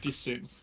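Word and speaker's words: piscine: That's the I I'm so sorry to tell you that, but it's pronounced pissing.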